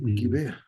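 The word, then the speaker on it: גבעה: Jueces 20 y en Gibea, exactamente, es el Givea. Givea, Givea, Givea. Bueno, esta Biblia lo traduce como Gibea.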